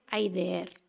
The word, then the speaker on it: Háyder: su autor es rafael háyder lo pronunció así tal cual se escribe porque en realidad hay de er no es un apellido extranjero háyder es el seudónimo